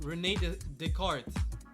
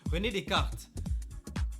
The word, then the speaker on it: René Descartes: But yeah, I'd say focus on Isaac Newton, Nikola Tesla, and Rene Descartes. Why am I pronouncing it like with the English accent? René Descartes.